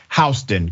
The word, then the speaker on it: Houston: Houston excuse me hon it's spelled like Houston but it's hon County Georgia hon County Sheriff's